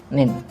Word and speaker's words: ninth: ditambahi TH gitu aja, dan pengucapannya 5 dan 9. Fifth and nin, bukan 5 dan 9, tapi fifth and nin. Jadi fifth, nin, itu perbedaan pengucapan.